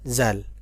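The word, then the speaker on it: ذ: এখন সামনে আসেন, দাল জাল, দাল জাল। নুক্তা ছাড়া যেটা, তার নাম হলো দাল। আর যেটা নুক্তা যুক্ত, উপরে নুক্তা, সেটার নাম হলো জাল।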